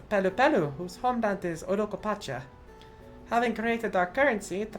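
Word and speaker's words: Urqopacha: They abandoned the lands they conquered and withdrew into the mountains of Urokopacha. Thank you, FanFest, for actually teaching me how to pronounce that in the first place.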